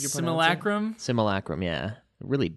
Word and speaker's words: simulacrum: How did you pronounce it? Simulacrum?